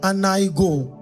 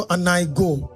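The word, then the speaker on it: ἀνοίγω: अब open word Greek में उसे कहते हैं अनाइगो। अनाइगो। इवन दो वहां पर एक ओ है लेकिन वो साइलेंट है तो अनाइगो।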